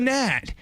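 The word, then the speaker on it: gnat: You throw me an aunt, I'll throw you a good nat. It is spelled G-N-A-T. It's true if we want to do that. Why do we need the G?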